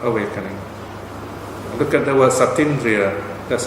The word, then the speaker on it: Satindriya: Okay, Satindriya. So we cancel out one vowel so that we have a nice flow in pronouncing the word.